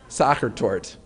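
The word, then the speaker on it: Sachertorte: And so the desserts that are mentioned in the book include apfel, strudel, and is it pronounced sachertort or sachertort? Sachertort.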